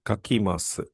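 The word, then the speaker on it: 書きます: So, the corresponding Japanese verb is kakimasu.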